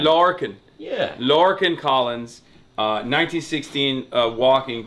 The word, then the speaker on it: Lorcan: We gotta introduce you, Lorcan Collins. Am I saying it right? Yeah, that's right. That'll do me. How would I say it? No, Lorcan is fine. Lorcan.